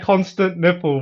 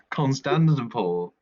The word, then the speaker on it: Constantinople: why are you saying it like constant nipple, bro? Constant, Constantinople. It's It's Constantinople.